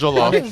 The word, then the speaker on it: jollof: off, it's jollof.